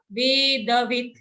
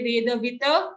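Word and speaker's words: वेदवित्: the sound, veda sa vedavit. Don't say vedavita. If you say vedavita, the last becomes a full sound, but as you can notice here, it's only a halant or half sound. So vedavit.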